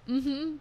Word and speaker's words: vale: yeah, That's what I was saying, vale. like pitbull. Yeah. Their vale is like okay, Okay. but it's spelled VALE because all the V's sound like B's in Spain.